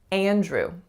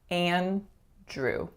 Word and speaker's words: Andrew: Andrew. So as I'm saying the name, you can hear that I'm nasalizing that first a sound.